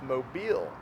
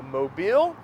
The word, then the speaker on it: Mobile: are saying mobile but the emphasis is on the second half it's mobile so mobile and also think about